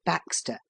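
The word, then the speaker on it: backstays: without the aid of back stays pronounced Baxter a simple contrivance somewhat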